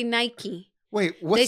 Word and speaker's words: Nike: like for example Nike so if someone is named Michael how would you call the person Michael short for Michael Mike okay take the M out now put an in Nike that's the way the brand should be and that's the